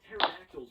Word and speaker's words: pterodactyls: I feel like pterodactyls would be a nuisance. They would urinate all over us and we wouldn't even notice. You'd probably notice, just not hear it. The P is silent.